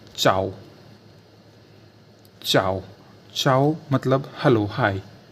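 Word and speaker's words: ciao: हो जाता है, यानी आई को नहीं पढ़ा जाता है। जैसे फॉर एग्जांपल मैं आपको बताना चाहूँ, जैसे चाओ, चाओ यानी सी आई ए ओ, यानी देखिए सी के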